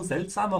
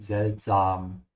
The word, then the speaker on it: seltsam: If you're an English speaker, pay special attention to the pronunciation of the A here. Yeah, it's seltsam with an open A. Yeah, don't say seltsame or something like that, because you can see same looks like English, but it's not.